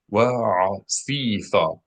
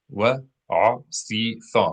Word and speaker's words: wa'asitha: Okay, number 1 of the most frequent words in this week's Torah portion is wa'asitha. Wa'asitha. Make sure you are pronouncing 4 syllables.